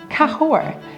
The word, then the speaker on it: Cahors: Cahors. The S is silent. You don't pronounce it. It is pronounced Cahors.